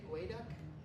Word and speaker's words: geoduck: I have to ask why GEO is gooey. That was just a mistake from 100 years ago. Trying to translate from a Native American term, which meant to dig, Geoduck, and someone tried to spell it weirdly, and it stuck.